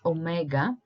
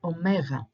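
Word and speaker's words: ωμέγα: they pronounce it as Omega but it's once again wrong so replace the G with a W as we've done previously so try saying Omega Omega now let's try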